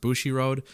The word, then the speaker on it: Bushiroad: So it is being said the company that now owns Stardom, which is I think pronounced Bushiroad, they obviously own New Japan as well.